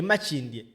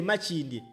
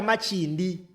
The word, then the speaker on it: Makindye: Nze nkukakasa omusajja e Makindye n'ekifo tamanyi oba akiyita Makindi gwe baataddeko gwe balese nga ali unopposed, tamanyi na pronunciation y'ekifo kyakiikirira akiyita Makindi.